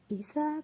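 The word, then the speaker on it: Aether: changed the name a little bit it still pronounced Isa but then the spelling is a t HR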